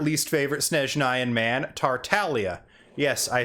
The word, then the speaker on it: Tartaglia: to make in english in italian so it is tartalia normally i do side with the voice actors on how their character's name is pronounced but in this case i've i've always heard it as tartalia before i ever heard griffin himself say as tartaglia so on this one